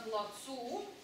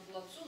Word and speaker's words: плацу: Видите, на плацу, но о плаце. То есть в этом слове ударение, оно и неподвижное, да, а оно двигается на плацу, но о плаце.